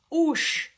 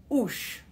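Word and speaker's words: 'uS: then finally we've got the word for leg oosh now you notice here there's the car with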